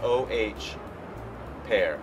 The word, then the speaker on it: Oh Pear: It's a cocktail that I invented, and it's spelled O-H, pear. Because Very witty. right when you sip it, you go, oh, pear.